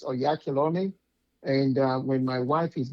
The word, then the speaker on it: Oyakhilome: So, I'm okay with, but it's Onyekolom.